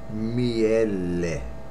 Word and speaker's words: miele: honey the honey that you eat honey which pronounced really miele me and honey miel then that's where it's